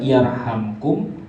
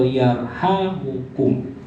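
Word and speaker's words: يرحمكم: Jadi cara bacanya bisa yarhamkum atau yarhamukum. Dan hadis ini masuk dalam akhrajahu Abu Dawud fi sunanihi wa Tirmidzi, masuk dalam Sunan Abu Dawud dan Sunan Tirmidzi.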